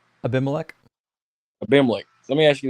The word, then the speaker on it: Abimelech: But let me ask you this: could have how do you pronounce his name? What are you saying? Abimelech.